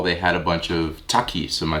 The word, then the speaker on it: Takis: store, I saw they had a bunch of Takis. Am I saying it right? Takis, yeah.